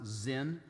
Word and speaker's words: Sin: sin actually it's pronounced the hebrew is pronounced zin some have speculated well